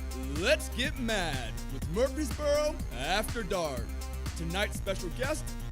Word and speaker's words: Murfreesboro: how it's pronounced. That's a place. Murfreesboro.